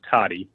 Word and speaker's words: Tode: Could you pronounce it for us? It's Toddy, and no problem.